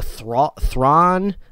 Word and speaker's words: Thrawn: don't really know what's happening there i know thrawn that's how you say his name yeah yeah